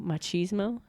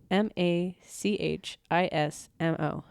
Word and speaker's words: machismo: do you spell it m a c h i s m o machismo you just never used it I've never heard of that I get like Macho it it's probably close to Macho it's like Macho Macho